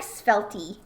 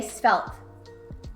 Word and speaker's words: svelte: The E at the end is silent. Oh, but I like Svelty. It's kind of fun, right? Okay, but we can just say svelte. There, I said it. I said it right.